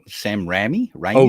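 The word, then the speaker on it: Raimi: Sam I'm not to pronunciation. Sam Ramy. Ramy. Oh, Remy.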